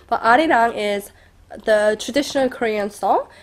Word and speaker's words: Arirang: like well I actually said it in English pronunciation but Arirang is the traditional Korean song and that it's